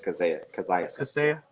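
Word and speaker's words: Kaseya: It's Kazaya.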